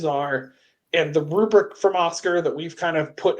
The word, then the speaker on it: OSCQR: briefly for listeners purposes we keep saying Oscar that is not spelled like the name we do have it on screen if you're just listening it's OS CQR and it's from Sunni